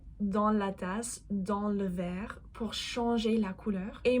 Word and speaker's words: verre: Faites attention, les mots “verre” et “vert” ont la même prononciation, mais les sens sont totalement différents.